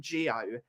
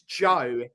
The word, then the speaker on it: Gio: it's same javanni Lelo I hate it when people call him Gio it's Joe it's one syllable jaavan Jep janini it's